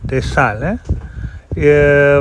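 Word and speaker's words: De Stijl: he started a woman called the style you spell it d-e-s-t-i-j-l desales from 1917 to 1931 he was engaged with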